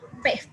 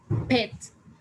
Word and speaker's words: pet: We don't say like just pet, but we say pet, like pet. So we're going to feel a little bit of air coming out of our word when we pronounce this word.